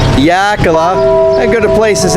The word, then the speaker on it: Xilitla: Yeah, there it is, the pronunciation of the town, Yakala.